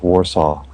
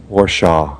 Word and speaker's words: Warsaw: say this time Warsaw it's Warsaw Warsaw what did I say warshaw warshaw damn it Scott